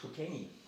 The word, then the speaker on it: Cockenzie: The local pronunciation is Cockenzie.